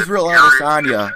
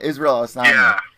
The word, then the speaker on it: Israel Adesanya: Israel Adesanya. It's a weird name. Yeah, Israel Adesanya.